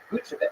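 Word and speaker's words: Vučević: Vucevic. Say his name again? Vucevic. So, yeah, that's pretty much spot on. Vucevic.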